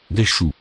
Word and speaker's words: choux: Des choux.